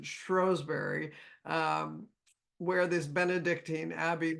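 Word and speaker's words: Shrewsbury: very well researched she lived in Shrewsberry or as they pronounce it strowberry um where this Benedictine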